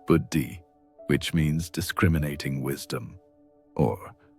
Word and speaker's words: buddhi: This kind of gentle self-incquiry practiced consistently over time, began to create what the ancient texts call buddhi, pronounced buddhi, which means discriminating wisdom or higher intelligence.